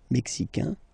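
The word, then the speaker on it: Mexique: here okay Canada Canada mexic mexic mexic it's really the mexic and then remember this Q it's only mexic okay Brazil Brazil okay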